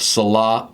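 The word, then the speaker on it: Sallaz: stainless steel which is what I believe is pronounced Salah polished which is a really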